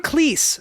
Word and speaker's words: Cleese: so so for john cleese apparently john cleese rhymes with cheese john cleese's name is